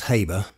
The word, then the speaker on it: Haber: before I digress again I'll admit I've never heard of Fritz Harbor in America sometimes pronounced Haber though I think I'll stick with Harbor I'd never heard of